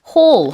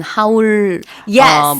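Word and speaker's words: haul: 자, 홀 우리 그 보면은 무슨 하울 뭐 영상 이런 거 많. 음. 그래요. 그래서 어 발음이 하울이 아니라 미국식으로 어 이렇게 H이란 발음이 비슷해요.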